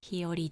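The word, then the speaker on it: 日和: はい、漢字ではお日様の日に平和の和と書いてひよりと読みます。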